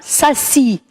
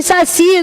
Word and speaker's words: Saci: lindas do meu coração e a palavra Saci tem a sílaba tônica onde na oxítona ou na paroxítona Pampa o relógio fazendo